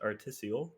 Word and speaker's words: artisiole: Uh, so my name is actually pronounced artisial. Get that in your mind. Artisol. Artisio.